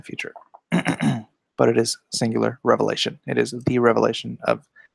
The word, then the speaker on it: Revelation: a Bible comic do revelations if you're gonna say revelation say it correctly it's singular not plural that's where all the